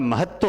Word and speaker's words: महत्व: तो ये होता है महत्व होता है। क्योंकि इसका प्रोनाउंसिएशन देखिए, प्रोनाउंसिएशन क्या है? महत्व, ये है प्रोनाउंसिएशन, महत्व।